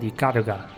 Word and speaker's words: Ikaruga: I can see where people were coming from iara is the successor to an arcade in Sega Saturn gem called radiant super gun and yeah as I said iara that's how it's pronounced he was developed by treasure which means